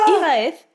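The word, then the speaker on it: Hiraeth: Donc, IRAF, ça s'écrit H-I-R-A-T-E-H.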